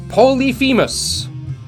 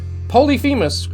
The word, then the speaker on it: Polyphemus: the leader of what group of mythical Giants Polyphemus that's how they're saying I pronounce it Polyphemus Lyonya by Odysseus in Homer's Odyssey was the